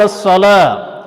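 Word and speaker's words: الصلاة: ہے، حی علی الصلاۃ۔ اصل میں الصلاۃ گول تا ہے، تو تجوید کا قاعدہ ہے کہ جب گول تا پہ آپ رکتے ہیں تو گول تا کو گول ہا میں بدل دیا جاتا ہے۔ تو اگر آپ ایسے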